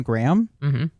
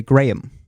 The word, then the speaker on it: Graham: name differently there so I say my name Graham uh sort of like a gram of cracker or cocaine yes and they say Graham okay so it's just slightly different it's a little higher in the middle uh Graham